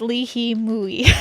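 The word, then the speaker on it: li hing mui: seasoned with plum powder, also known as lihing mui. Oh, pronounced lihi mui.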